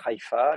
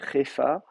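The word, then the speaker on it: חיפה: Est-ce qu'on dit Hefa? Vous avez une diphtongue aï, vous pouvez soit la prononcer aï bien comme il faut, ou bien ei.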